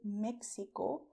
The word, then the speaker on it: México: I did not say Mexico with the sound of taxi because Mexico is to be pronounced the way I told you, Mexico.